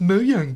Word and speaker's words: Mojang: Thanks a lot, Mojang. Actually, it's pronounced Moang cuz it's Swedish.